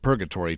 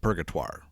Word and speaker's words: Purgatoire: paralleling the purgatoire river apparently the locals pronounce it purgatory today but the early french trappers would have pronounced it purgatoire it's not hard to